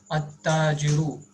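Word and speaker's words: التاجر: At-tajiru means here we have to omit lam while pronouncing the word because it starts with hurufu shamsiya.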